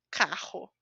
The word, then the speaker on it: carro: Esta pronúncia vai ser sempre com a sua garganta. Rua, carro.